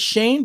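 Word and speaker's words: Schoen: shut up who's drafting seven oh it is pronounced shane my friend it is shane but it's it's spelt shown but okay maybe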